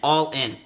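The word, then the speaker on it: Ollin: whole chapter is called it's called all in okay but it's spelled o llin all in and the reason why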